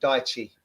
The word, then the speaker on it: Daichi: I'd pronounce it Daichi personally.